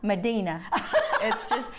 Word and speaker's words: Medina: I love how you say my name. Why? Medina. It's not at all Hispanic, Spanish, or it is Hick. That's the Hick way you say Medina. That's the Hick Hispanic version.